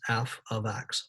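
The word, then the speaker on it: f(x): parentheses in an x this is pronounced f of x or a function of x f of x and y can be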